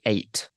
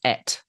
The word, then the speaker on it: eight: Okay, I would say eight. How do you pronounce that? Eight. I know a lot of people say et.